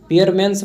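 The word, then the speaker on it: Spearman: पीियरमस पढ़िए। एस को साइलेंट रहेगा यहां पे पीियरस।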